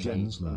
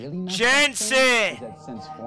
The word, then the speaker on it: Jensen: Is that to get in, you have to lie naked in a coffin and masturbate Gensler. In front of the old Golf Gensler. It's Jensen.